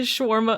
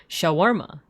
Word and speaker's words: shawarma: Sha, I cry out to white people while continued to schwarma unforgivingly. Shawarma.